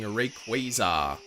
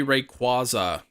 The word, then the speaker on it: Rayquaza: Rayquaza. You think it should be Rayquaza. I think it's supposed to be like a quasar.